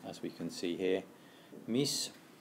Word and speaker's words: mis: And crucially, that S is always pronounced in Spanish. Again, unlike in French, if that's a language that you've learnt, where the S on the end of me is often not pronounced.